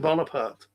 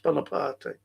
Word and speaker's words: Bonaparte: So when they say Napoleon and they say Napoleon Bonapart, it's not, you know, it's not how it's pronounced. It's Bonaparte.